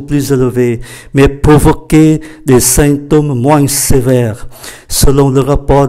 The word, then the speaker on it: symptômes: Mais provoquer là gây ra, là tạo ra, des symptômes, chúng ta để ý cách phát âm, đây là sain bởi vì chữ M đứng trước P thì có giá trị phát âm như là N, symptômes, provoquer des symptômes